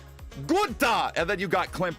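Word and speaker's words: Günther: You gotta say it like a real German. Gunther, and then you got Clint Boyer.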